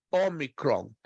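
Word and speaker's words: ὄμικρον: Depois, a próxima, Omicron, muito parecida com a nossa letra O, só que ela se pronuncia como a palavra cor, Omicron.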